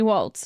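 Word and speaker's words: Walz: it's going to be Waltz okay it's pronounced like walls I don't give a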